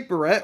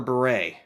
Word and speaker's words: beret: military purpose of a beret do you say Barrette or beret Beret I should be saying Beret shouldn't I